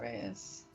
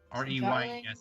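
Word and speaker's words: Rheas: reyes okay darling metropolis and not race y reyes is r h e a s okay r h e some people spell it r e y e s but they're wrong all right it doesn't get rhas is also acceptable but only in some crowds not being which depending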